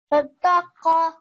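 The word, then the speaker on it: صدقة: Sadaqa. Very good. It was just the qa sound that I wanted to make sure you pronounce by your throat.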